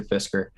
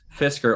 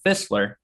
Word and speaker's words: Fisker: oh yeah he pushed fisker or he couldn't even pronunciate it he called it fistler investors into this he